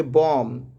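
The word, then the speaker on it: bomb: For example की बात करें तो देखिए यहाँ पे एम के बाद बी आ गया, एम के बाद बी, एम के बाद बी, तो क्या पढ़ेंगे, बॉम, बी साइलेंट हो गया।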